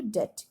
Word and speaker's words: debt: आप देखो, credit is painful when the borrowers trapped into डेट। ये DEBT है बट इसको डेट ही प्रोनाउंस करना।